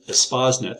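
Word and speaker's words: Espacenet: And there's several databases, and ESPASnet, that's how you pronounce it, is a full-text open repository of terms.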